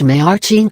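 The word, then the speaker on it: mère: the letter e examples mayor meaning mother is pronounced may our m-meaning fifth is pronounced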